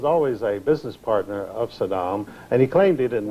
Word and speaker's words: Saddam: a business partner of Saddam and he claimed he didn't know him so he deliberately when he was on camera he always mispronounced his name he always called him Sodom as though he were